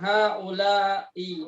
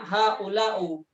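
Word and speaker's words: هؤلاءِ: Baik, sekarang haula'i banatun. Kenapa nggak bacanya haula'u? Haula'i. Kenapa bacanya nggak haula'u? Ana tidak punya argumentasinya, Ustaz. Ana taunya bacaannya haula'i, Ustaz.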